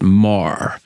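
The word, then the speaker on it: Meagher: r and I've been told you're supposed to pronounce it Mah right not Mah Mah so Thomas Francis Mah was born in Ireland and he was part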